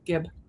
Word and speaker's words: Gibb: Yeah, it's just GIB. Yeah, Gibb.